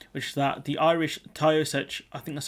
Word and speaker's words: Taoiseach: So we'll go through these, which is that the Irish Taoiseach, I think that's how you pronounce it, Michael Martin, said that spiralling back